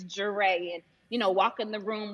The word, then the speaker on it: Jere: It's not Jerry, it's Jere.